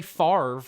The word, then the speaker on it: Favre: even obey language his you say Favre but it's spelled off abre yeah there's no rule in any language I don't think where that makes sense these anybody just said